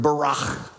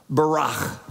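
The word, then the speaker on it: ברך: In the Hebrew language, the word for blessed is the word barach. Barach.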